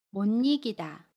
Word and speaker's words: 못 이기다: 받침 시옷과 모음 이가 만나요. 그러면 못 잊다 라고 발음해요. 받침 시옷은 받침 소리 니은으로 발음하고요. 모음 이는 니로 발음합니다.